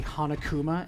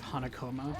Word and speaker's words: Hanakoma: And the other part is, one time I say Hanakuma instead of Hanakoma, and I'm like, man, did I just have a Danganronpa slip?